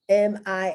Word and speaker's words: million: million another one um m-i-l-l-i-o-n million that's once again it's like in spanish miyon the l is pronounced ya ya but that's not always